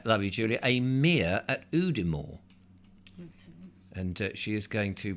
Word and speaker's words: Udimore: Now, is there, lovely Julia, a mere at Udimore?